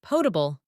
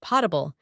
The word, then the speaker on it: potable: The word portable or sometimes pronounced potable is a term meaning drinkable water.